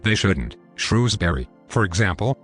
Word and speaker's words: Shrewsbury: look like they shouldn't shrewsbury for example is pronounced like it's a two-syllable word why american news are